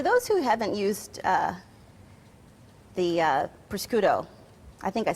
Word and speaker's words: prosciutto: And for those who haven't used the prosciutto, I think I said it wrong.